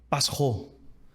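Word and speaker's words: πάσχω: agora na pronúncia mas Páscoa no grego se se fala pasá e sofrimento se lê pasou você vê muito próximo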